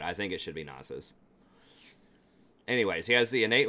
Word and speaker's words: Nasus: And some people say, well, it should be Nasus. Well, it's 2 syllables, so it's, you know, Nasus, I think, and not Nasus. Like, a sound like Nace is when it's 1 syllable, when there's usually like 4 letters in 1 syllable, like vase or mace or something like that.